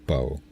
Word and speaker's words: Bo: It's pronounced Bo. Bo is the name of his Chinchilla.